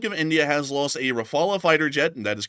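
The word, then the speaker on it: Rafale: We were able to confirm that the Republic of India has lost a Rafala fighter jet and that is correct. it is pronounced Rafala, an SU30 MKI and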